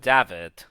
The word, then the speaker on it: Daf: it if it's daf do you say DAV like like a V almost I mean it's like David David yeah yeah so it's technically DAV D James is on